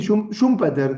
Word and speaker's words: Schumpeter: y es un Peter, no sé bien cómo se pronuncia. Sí, sí, Schumpeter, como nosotros lo decimos con con Y, Schumpeter, Schumpeter.